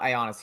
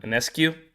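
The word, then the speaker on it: Ionescu: it with my buddies it's not ionis here that's not how you pronounce it it's um anescue it yeah I think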